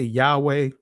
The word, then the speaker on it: Yahweh: Now, some of you guys may say Yahweh or Yahuwah. I'm just pronouncing this from an ancient Hebraic perspective.